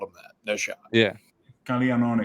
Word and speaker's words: Caglianone: Well, you say how do you pronounce Caglione's last name? Caglianone. Yeah, stop that. We gotta stop that right now. Caglianone.